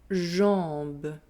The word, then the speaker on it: jambe: Jambe. Let's practice together. Remember to nasalize the sound en and not to pronounce the M or the N.